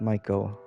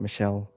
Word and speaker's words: Michel: i made a mistake it is michael not michelle really i looked it up and it sounded like you said it was saying it right but it's after the archangel michael the archangel unless there's